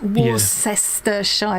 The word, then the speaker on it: Worcestershire: WRC, no H, ESTER Shire. Looks like Worcestershire. Yeah. Worcester. See? And the Shire part, especially with speaking quickly, is often just pronounced sh.